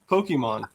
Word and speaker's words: Pokémon: Do you pronounce the E? Is it Pokemon? Pokemon. What is it? Pokemon.